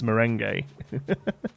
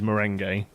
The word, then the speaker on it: merengue: It's not meringue. It's merengue. It's not. No, that's meringue you're thinking of, isn't it? Is there a dessert called merengue? No, it's spelt differently. You're thinking of meringue. Yeah, with an I. That's meringue is the dessert. The fluffy white dessert thing is meringue. This word here is merengue, which is a dance.